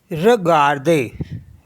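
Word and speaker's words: regarder: है आर ई जी ए आर डीई आर र गर्दे र गर्दे होता है टू वच ये एक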